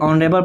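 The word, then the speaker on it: honourable: अब देखिए ऑनरेबल person, इसको पढ़ते हैं ऑनरेबल, ऑनरेबल पर्सन। अब देखिए तो फिर आ गया, ऑनरेबल में क्या है, वॉवेल साउंड है, किस में जा रहा है, आई में वॉवेल साउंड, क्या हो जाएगा एन,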